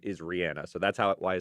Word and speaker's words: Rihanna: Oh, I believe that's the correct way to say Rihanna. I believe it is too. I had to train myself because my mouth wants to say Rihanna. Like that's what sounds natural